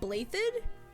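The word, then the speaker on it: Blaiddyd: Alexandra Blathid, Crown Prince of the Holy Kingdom of Fargus. Someone explained to me how you get Blathid out of the way that it's spelled.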